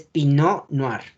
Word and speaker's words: Pinot Noir: La T no se pronuncia y es Pinot Noir.